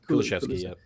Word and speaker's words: Kulusevski: Kulusevski. Kulusevski, yep.